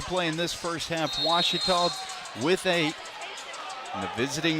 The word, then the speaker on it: Ouachita: University back in Texas everybody pronounces it witch but really it's wash wash was how would